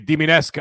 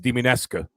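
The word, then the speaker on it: Dimitrescu: Diminescu. I had to actually look it up on Google, and the Google Translate, and then they actually play like the audio, and it actually is pronounced Diminescu.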